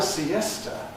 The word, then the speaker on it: siesta: So, in English, this word has three syllables. To have a siesta. Siesta. Siesta is three syllables in English.